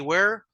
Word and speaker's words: were: no se pronuncian igual la palabra Where si ustedes me mi boca se abre un poco más hacia los lados verdad Where Where do you